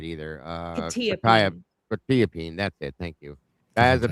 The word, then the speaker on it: quetiapine: Quetiapine, that's it.